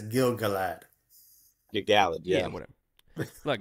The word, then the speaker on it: Gil-galad: And it's Gil-galad.